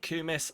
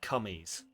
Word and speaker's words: kumis: Oh, I'm pronouncing it kumis and not cummies.